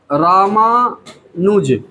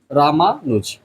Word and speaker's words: रामानुज: ए एन यू जे तो आर ए से रा हो गया एम ए से मा हो गया एन यू जे रामानुज next word है सुगंध